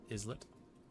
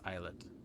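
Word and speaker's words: islet: I'm now sufficiently bothered by this that I want to actually look up the pronunciation of isllet. Oh, it is eyelet.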